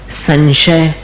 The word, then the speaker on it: संशय: का उच्चारण इसी तरह संशय संशय का उच्चारण कैसा है? न जैसा नहीं है।